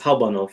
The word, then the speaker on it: Hauptbahnhof: pronounce it? It's Habanov. Yeah, It's correct. Yeah. Habanov.